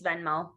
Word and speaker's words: Venmo: sorry, it's Venmo.